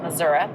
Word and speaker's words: Missouri: That's how they say it, Missouri.